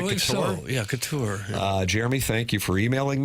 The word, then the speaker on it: Couture: Do you pronounce I it believe Couture? so. Yeah, Couture.